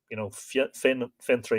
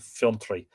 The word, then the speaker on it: Fintry: I think it depends on, Fintry and Fiontry. Ventry is the anglicised version. And I know when we read the Battle of the White Strand, I would have pronounced it Fiontry. But anyway, take your pick.